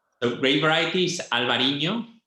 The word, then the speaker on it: Albariño: You have to pronounce it because I don't pronounce it correctly. So grape variety is Albariño.